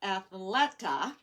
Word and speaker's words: Athleta: went to athletic how do you say that athleta athleta and this is how big the trend